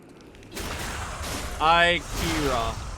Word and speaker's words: Ira: Ira gotcha. Kind of like Akira, but I gotcha.